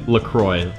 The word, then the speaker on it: LaCroix: Lacroix Lacroix sorry Lacroix on the actual website they say Lacroix rhymes with enjoyed so then we have